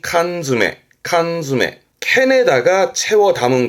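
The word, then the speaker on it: 缶詰: 그래서 발음이 칸즈메 칸메 캔에다가 채워담은 거 그래서 통조림 그 통조림을 칸즈합니다.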